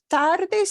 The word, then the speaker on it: Tardes: English word kind of Tardes sounds kind of like tardy Tardis yeah because tarde